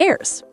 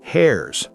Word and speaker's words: heirs: The rest goes to the heirs. Heirs, not hairs.